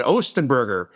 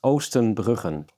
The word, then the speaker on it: Oostenbruggen: Um, my last name is pronounced Oen Brooken. Oen Burken. Something like I just can't get that R in the throat.